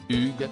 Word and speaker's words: Hugues: son prénom correctement après plusieurs tentatives à fructueuses ce dernier lui a finalement recommandé de le prononcer à la française Hugues sieste parfait a-t-il lâché